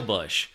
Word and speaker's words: Busch: headline it's it's short it's called beating around the bush but spelled like the beer beer but it's not